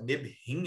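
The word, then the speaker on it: נביאים: você vai ver a expressão também hebraica Neblim, Nebhim, né, na verdade, Nebhim é a pronúncia mais correta.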